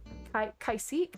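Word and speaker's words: Caique: a few years, and they had a Cacique, I think is actually how it's pronounced, something like that, but I always like to say it was a cocky bird. It was C-A-I-Q-U-E, I believe.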